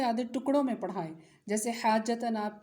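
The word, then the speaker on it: حاجةً: حا الف زبر مد جیم حاج، جیم زبر جا حاج. تا دو زبر تن حاجتن.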